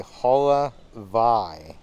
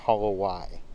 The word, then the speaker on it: Holowai: So we talked to a cast member and he explained that the W in a lot of Hawaiian words is pronounced like a V. So that word is actually Holovai, not Holowai.